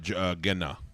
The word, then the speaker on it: Genna: Genna. Genna. Genna. That's how they say it. I think the synths call it Jenna.